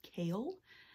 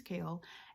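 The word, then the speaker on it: Chaol: titled Royal Guard thing his name is pronounced kale at least that's what YouTube told me so his his name is kale and then we have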